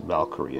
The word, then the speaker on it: Valkyrie: is uh super neat Valkyrie right in case you didn't know how to pronounce that that's how it's pronounced Valkyrie I know it's spelled kind of strange so you may